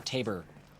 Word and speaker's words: Tabor: this might count as the Tabor or Tabor I guess since it rhymes with labor uh that might be